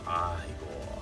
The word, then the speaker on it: Igor: There's Igor. It's Igor. It's pronounced Igor.